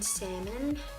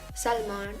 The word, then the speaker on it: salmon: And over it, I'm gonna go with this Gerard Cosmetics gloss in salmon or salmon. I don't know why the L is silent.